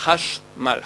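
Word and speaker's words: חשמל: Ça, c'est Hashmal. Hashmal, c'est 2 syllabes.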